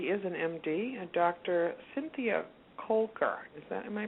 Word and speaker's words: Koelker: Cynthia Kulker. Is that am I pronouncing her name properly?